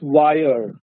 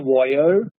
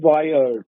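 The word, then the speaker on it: voyeur: Tom all of us know peeping Tom the pronunciation of this word is wire it is not war it is wire wire is a Peeping from right and V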